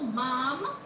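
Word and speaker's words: माम्: सर्वतोमा पाहि पाहि, सर्वतो माम पाहि पाहि समन्तात्, सर्वतो माम पाहि पाहि समन्तात्। सर्वतो माम, मा क्यों उच्चार होता है यहाँ पे? अनुस्वार है, अनुस्वारं का उच्चारण होगा म।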